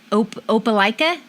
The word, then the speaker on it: Opelika: In Alabama, so you're in Opelika? Close. Well, that's my hometown. Actually, you pronounced it right.